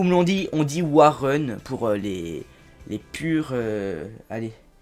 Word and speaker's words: Warren: l'ont dit on dit Warren pour les les pures allez les pures bretons car il me semble qu'il est breton bargil donc c'est Warren bargil et pas waren bargil donc voilà je vais